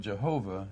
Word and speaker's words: Jehovah: name and the word jehovah is a kind of a german way of pronouncing it yeah you put the